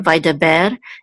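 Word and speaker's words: וַיְדַבֵּר: So the accent for vai da ber is on the last syllable.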